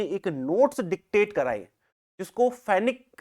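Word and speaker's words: Fenwick: और एक प्रोनंसिएशन इसका जो है फेनविक भी होता है। ठीक है? लेकिन वो सरनेम्स के लिए यह एप्रोप्रियट है। अब मैं क्यों कह रहा हूं? इसको मैं प्रोनाउंसिएशन क्यों कर रहा हूं? फेनिक।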